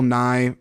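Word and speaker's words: Nighy: for afteron and Bill Nye uh I think it's I think it's pronounced Bill NY like Bill NY the Science Guy for living now here's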